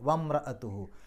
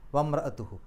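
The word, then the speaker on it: وَامْرَأَتُهُ: നേരെ മീമിന്റെ സുക്കൂനാണ് പറയുക വംറത്തുഹു അവിടെ അങ്ങനെ ഒരു അക്ഷരമേ ഇല്ല എന്നുള്ള രൂപത്തിലാണ് പറയുക അത്തരം ഹംസകളെ ഹംസത്തു വസ്സിൽ എന്നാണ് പറയുക വംറത്തുഹു അതേസമയത്ത് പിന്നീട് വന്ന റാഇന്റെ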